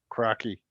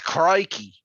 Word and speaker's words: Crikey: there's a scart adapter crocky cranky how do you say that no it's crikey and these are games